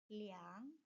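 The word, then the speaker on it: 两: Nah, 2 dalam penyebutan angka uang itu cara bacanya liang.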